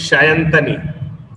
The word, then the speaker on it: Sayantani: the correct way is Shayantani. Yeah. So in Bengali, we use this so as a sh. We write S, but we pronounce as in sh. That way, it's Shayantani. The typical Bengali one is